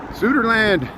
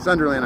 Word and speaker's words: Sunderland: Sutherland, England. Yeah, Sunderland. Sunderland. I got to say it right.